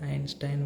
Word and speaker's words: Einstein: Albert Einstein we call generally, right? But actually the correct pronunciation in German, it will become like Albert.